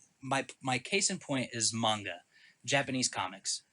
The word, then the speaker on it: manga: I know how the Japanese say it. I've heard them say it. The correct pronunciation is manga, and I understand why people would say manga.